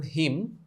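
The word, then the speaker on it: hymn: famous poems, আ হিম, উচ্চারণ হিম, on Saint Johns day,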